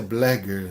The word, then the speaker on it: Bleger: Hoje nós vamos falar um pouquinho sobre a entrevista psicológica de Blégger, tá? Esse importante teórico argentino, tá? Onde na verdade a pronúncia é José Blégger, né? No espanhol.